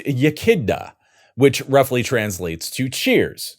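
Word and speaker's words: Iechyd da: can all fold into your vocabulary and it's pronounced yaka which roughly translates to Cheers so yaka thanks Carl since 1850 well over half of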